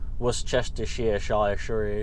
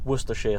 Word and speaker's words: Worcestershire: Americans would call it, Worcestershire sauce. Yeah, the Americans really struggle with saying Worcester sauce, don't they? It's Worcestershire sauce. That's it. That's what it's called. Don't put too many syllables in it.